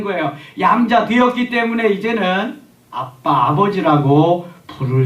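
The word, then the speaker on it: Abba: 양자의 영을 받았으므로 우리가 아빠 아버지라고 부르짖느니라 아멘 여기 아빠라고 하는 말이 아라모 있데요 아라모 아고 우리 말하고 발음이 아주 똑같습니다 전에는 아바 아버지라 그랬는데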